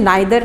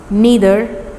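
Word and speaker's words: neither: इसका सही pronunciation नाइदर नहीं है, आइदर नहीं है, नीदर, ईदर, एवरी।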